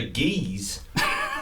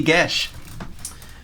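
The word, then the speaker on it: geas: kind of cast a geese on oberon yeah you're gonna use a combat application of the geese spell yeah it's pronounced gesh but yeah yeah again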